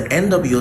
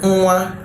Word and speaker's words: nwa: It's akin to what you have in the English word singing and ringing. So when nwa is used to form